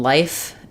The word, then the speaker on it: life: The difference between life and live is that they both have the I sound, but this one is voiceless.